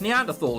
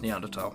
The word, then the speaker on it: Neanderthal: I've always heard it as Neanderthal. Is it a preference? A preference. But there's no H sound when it's pronounced in French and German.